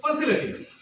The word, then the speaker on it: facility: आप इसको फैसिलिटी नहीं बोल सकते, लिटी नहीं, LITY, लिटी नहीं, लेटी। लेटी बोलो। This is फैसिलिटी।